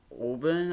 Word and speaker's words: ABRN: She's on Team Auburn, I think. Team what? Auburn. Like ABRN.